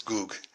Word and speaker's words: Gog: What is, actually in Arabic there is no g sound, so it's Gog would be pronounced Jog. So I think that Yajuj and Majuj are really Yagug and Magug. So, and Gog is not Gog, it's Goog.